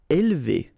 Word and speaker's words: élevé: Élevé. All right, so don't pronounce this here.